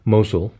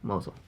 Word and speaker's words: Mosul: Did I pronounce those right? Mosul. Mosul.